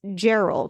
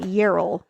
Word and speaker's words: Gerald: It's Gerald, not Yerl.